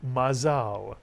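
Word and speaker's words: מזל: yto how about this word mazal is correct mazal and Mazza literally means constellation stars it came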